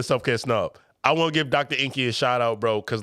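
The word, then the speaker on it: Drenqi: already all right let's go to the Bro Dr Inky man d-r-e-n-q-i-d-r-e-n-q-i-d-r doctor Inky is spelled e-n-q-i you can find me everywhere by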